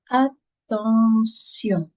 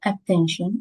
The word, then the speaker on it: attention: Attention. Voilà. Voyons t i o n. Ça se prononce si attention. C'est comme le mot attention en anglais mais en français se prononce avec le son se attention.